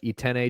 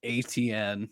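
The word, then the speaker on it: Etienne: you just said that i've always in my mind read it as atn like an ability i thought it was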